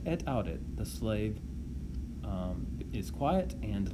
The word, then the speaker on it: audi: Going on, Dominus, the master, says, tace et audi, be quiet and listen. Again, notice that the imperative forms tace and audi both end in a vowel, a long e for tace and a long I for audi.